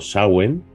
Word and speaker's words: Samhain: Samhain, que debemos, si lo pronunciamos en gaélico, es algo así como Samhain, o sea que no se parece en nada, pero bueno, una cosita que he aprendido recientemente.